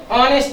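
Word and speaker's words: honest: হি is dash অনেস্ট ম্যান। এখানেও এইচ শব্দটি consonant, কিন্তু এই শব্দের উচ্চারণটা স্বরবর্ণের মতো হচ্ছে অ, অনেস্ট।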